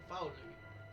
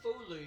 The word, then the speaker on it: Faolu: Ryu, it's done with Folu. Faolu. I keep saying Folu because that's how I used to pronounce it. So forgive me if I pronounce it that way.